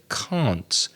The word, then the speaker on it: can't: Now, Normally, it's difficult to hear the difference between the positive word can and the negative word can't. And we've spoken about this before. The T at the end of can't is not